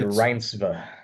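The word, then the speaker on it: Renate Reinsve: I've always said Rinsba. Yeah, it's okay. That sounds right.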